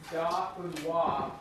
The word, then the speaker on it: Dauphinoise: So my husband says it is possibly pronounced Dauphinoise potatoes. It's Dauphinoise.